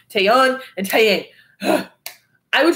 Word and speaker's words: Taeyang: be chill like Joey was with taya do pronunciation is Taeyang Taeyang and pee huh I would try to be